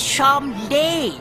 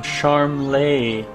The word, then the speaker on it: Charmles: cold King Troad its sharm day who clocked just heads eventually we'll come to the Royal hunting ground that's where the initiations take place I've been saying it wrong the whole time sharm lay oh and before I